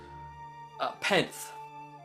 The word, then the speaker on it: Penth: Penth. Penth. Yeah. I love it. Just one syllable.